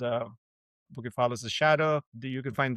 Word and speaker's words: Bucephalus: Oh, yes, so the book is called Bucephalus' Shadow and it's spelled b u c e, not k, the the way the the Greeks call it is Bucephalus and it's a Bucephalus